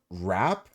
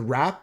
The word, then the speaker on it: wrap: the hint is uh wrap okay these are words with a letter that is silent this the rap rap has a silent w at the start we're looking for words